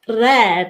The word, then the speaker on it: rêve: If you have a word like rêve, it's all the way open.